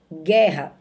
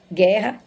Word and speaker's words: guerra: exemplo aqui embaixo queijo guerra Você tá vendo que o queijo é q u e o guerra que Geo é quando a gente diz que Ju Guerra Não tem nenhuma pronúncia da letra U portanto essas palavras aqui